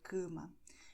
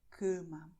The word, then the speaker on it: cama: Why do we say cama? Because here you have the letter M, and the vowel right before that will be nasal, cama.